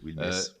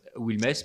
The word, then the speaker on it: Wilmès: Oui, Wilmès. Wilmès, pardon, je prononce à la française, qui a découvert, je